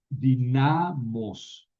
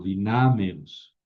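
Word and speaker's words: δυνάμεως: Eh, pero no queda dinamos, ¿no? Le añado una épsilon, ¿no? Es una épsilon como, digamos así, eufónico. No es dinamos, sino dinameos, que es un poco más suave de pronunciar.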